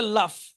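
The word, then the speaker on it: laugh: হবে কিন্তু উচ্চারণ হবে লাফ। হুম। তার মানে বানানের সাথে কিন্তু উচ্চারণের মিল নেই।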